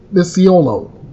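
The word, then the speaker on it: Micciolo: In May, a jury found Christopher Gregor, 32 years of age, guilty of aggravated manslaughter in the death of Corey Misiolo, that's the pronunciation, who prosecutors argue died from injuries sustained from chronic abuse.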